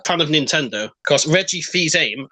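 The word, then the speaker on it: Fils-Aimé: of Nintendo cause Reggie fils-aime as I believe his name is pronounced is spelt like Phil Simms well I think it's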